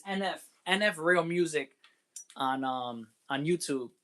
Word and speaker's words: NF: Because his name is NF. I always say HF. That's why. Yeah, it's NF.